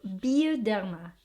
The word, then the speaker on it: Bioderma: So it's called Bioderma. Bio because the letter I here in France, they pronounced it as E. So Bioderma, laboratoire dermatologique.